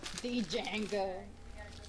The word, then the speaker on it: Django: like the old like the western django d is silent great yeah django django all right we gotta